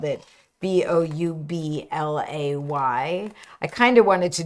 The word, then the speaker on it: Boublay: So it's spelled, in the end, we spelled it Boublay.